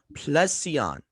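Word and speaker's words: πλησίον: four one three nine which is pronounced as placion okay in the thayers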